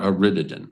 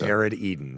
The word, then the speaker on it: Arid Eden: It's not Aritidan. It's aid Eden. It is Arid Eden.